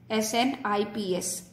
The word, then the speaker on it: SNPs: That is called a single nucleotide polymorphism, SNPs, और इसको अगर प्रोनाउंस करते हैं तो SNPs, SNIPS, SNPs प्रोनाउंसिएशन के लिए यूज किया जाता है।